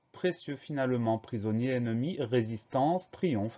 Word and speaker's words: précieux: Et à la fin de précieux, on a une lettre muette, le X.